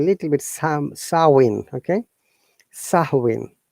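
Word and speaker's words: Samhain: to describe a little bit some sawing okay sahuin not sameen once again though is that the am is silent and it sounds like sahui so sawin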